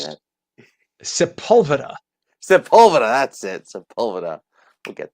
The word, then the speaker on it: Sepulveda: Ventura Drive and I'm trying to learn how to How do you say pronounce that? Sepulveda. Sepulveda, that's it.